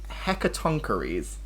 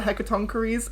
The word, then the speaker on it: Hecatoncheires: real Greek word for Hecatoncheires, and then the pronunciation tonk with a K, rees, double E.